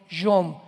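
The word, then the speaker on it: יום: Postreros es acharit, así como suena con CH, se pronuncia acharit, acharit. Y tiempos o días son yom, Y-O-M de mamá.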